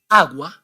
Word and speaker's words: agua: the first one is agua and the second one Guerra agua Guerra but why why you must pronounce the vowel u in the first word but you must not